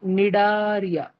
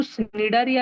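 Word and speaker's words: Cnidaria: निडारिया। तुम बोलो भैया वो तो स्निडारिया है भैया, स्निडारिया, सी है ना उसमें, लेकिन सी साइलेंट है, सी साइलेंट है।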